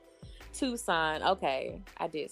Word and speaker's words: Tucson: what's up or tuck tucks in I said Tucson is that how you pronounce it Tucson Tucson am I saying it right um I